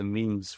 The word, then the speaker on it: Nîmes: They activated his transfer in the June, where they paid £1 million to Nîmes for him. Or Nîmes, if you don't pronounce the S.